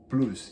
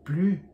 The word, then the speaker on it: plus: Português, o francês é plus, ele tem um S que não é pronunciado em basicamente dois casos.